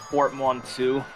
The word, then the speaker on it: portmanteau: How do you pronounce that word again, Greeth? You said portmanteau? Yeah, portmanteau.